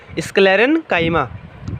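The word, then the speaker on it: sclerenchyma: sclerenkaima क्या करता है देखो इसको अच्छे से प्रोनाउंस अच्छे से करना है sclerenkaima ठीक है कोई इसके लेले में बोल रहे हो कोई कुछ ऐसे नहीं बोलते देखो ऐसे बोलना है sclerenkaima अब देखो यहां पे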